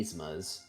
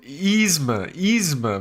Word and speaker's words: Yzma: Yzma. There's no y. Yzma. No, I said Yzma. Yzma. You said Yzma, like yes. Yeah, it's Khan Yzma. You don't pronounce the Y. It's an E.